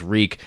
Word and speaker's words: Reek: always like reaffirming that his name is reek and then it rhymes with meek or weak or something like that it's constantly happening and